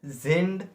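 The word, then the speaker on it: sind: here uh in German we as we and are as zind uh and definitely uh the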